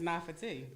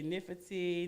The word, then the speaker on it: Nafati: How do you pronounce this name? They say Nifati, Nifate, Nafate.